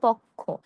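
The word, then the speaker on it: পক্ষ্ম: এটা কিন্তু ক্ষীয়র সঙ্গে ম থাকার কারণে আমরা পক্ষ বলব না। আমরা বলব পক্ষ। এটি কোন পক্ষ? এটি হলো পাখির পালক, পশম, পাখা এই ধরনের জিনিস নির্দেশ করে। হ্যাঁ? এর উচ্চারণ হবে পক্ষ।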